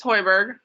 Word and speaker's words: Hoiberg: um what's your last name it's hoiberg can you can you spell that for me it's h-o-i-b-e-r-g thank you all